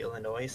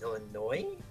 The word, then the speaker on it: Illinois: don't say Illinois, it's Illinois. It's Yeah. technically a French word. What if I French pronounced it Illinois? Illinois. That's still more acceptable than Illinois, Illinois? because the S is not said, it's silent.